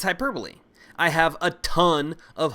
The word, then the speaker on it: hyperbole: Next up, we have hyperbole. No, that's not how you pronounce it. It's hyperbole. And hyperbole just means exaggeration to make a point or show emphasis.